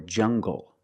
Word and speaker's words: jungle: So you have the nasal M sound and the hard G.